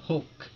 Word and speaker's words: Hulk: Nah, sama kayak superhero yang hijau badannya tuh, Hulk. Aku itu bahasa itu dibaca Hulk. Inggris Bukan jarang. Hulk. Terus L-nya hilang jadi ya. Hulk. Bukan hilang sih, tapi lidah kita dilipat. Hulk.